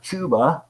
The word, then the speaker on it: Chuba: all and mr hubbard chubba or chuba however you want to say it spelled chuba probably pronounced chubba but yeah he's probably